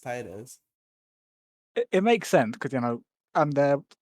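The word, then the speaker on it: Tideus: Tidus or Tidi I always say Tidius, it's Tidus. Tidius. It's spelled like Tidius, but I'm pretty sure it's pronounced Titus.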